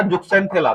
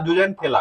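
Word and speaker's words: zooxanthellae: Actual में इसका pronunciation है वो है जुजेंथेला। क्या नाम है? जुजेंथेला, ठीक है। इसी को हम लोग जुक्सेंथेला भी कहते हैं। क्या बोलते हैं? जुक्सेंथेला। कि अंग्रेजी में जो स्पेलिंग होता है इसका वो एक्स से होता है, ठीक है। तो जुक्सेंथेला, लेकिन प्रोनाउंसिएशन का क्या होता है? जुजेंथेला, ठीक है।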